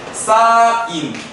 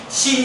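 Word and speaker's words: sine: 때 여러분들은 삼각비의 종류 사인 신 신이라고 읽으면 안 돼요 원죄가 아니야 알아들은 분은 굉장히 영어가 잘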